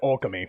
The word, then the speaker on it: Okami: Production is just about to begin on the Okami sequel, and I am beyond honored we could share this very Well, technically it's pronounced Okami.